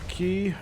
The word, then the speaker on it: Quay: yeah we are now the key or Quay as it is it's phonetically spelled everyone call it we're